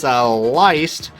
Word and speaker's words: Leist: You see right there, we do got a veteran driver and a rookie driver, Matthias Leist. That's how you pronounce the name. Think of it like hair lice.